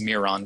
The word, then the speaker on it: Myron: by a sculptor named Myron. Sometimes it's pronounced Miron, depending on who your teacher is.